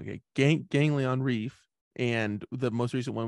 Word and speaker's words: Ganglion: with the first album, I always think it's ganglion, but it's not. Oh, it is. Yeah. Okay. I always feel like I say it wrong. Okay. Ganglion Reef, and the most recent one with Spiders in the Rain, right?